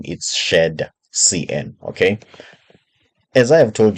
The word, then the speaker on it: shadcn: had uh that problem but some people may pronounce it as shared CDN I would like to assume the reason is